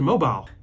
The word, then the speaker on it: Mobile: back from strip to mobile it's pronounced mobile oh yeah that's the